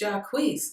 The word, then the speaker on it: Jacquees: I've Googled it like 10 times to make sure that I'm pronouncing it correctly. And I see it, you know, pronounced differently everywhere that I look. But the last place I checked, it said Jacquees, so that's what we calling him today.